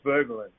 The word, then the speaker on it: Voegelin: So the German pronunciation is Voegelin.